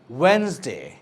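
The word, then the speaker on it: Wednesday: Silent D, যেখানে আমরা ডিটা আনপ্রোনাউন্স থাকে, যেমনটা sandwich, not sandwich, sandwich. ওয়েনসডে, adjacent, adjective.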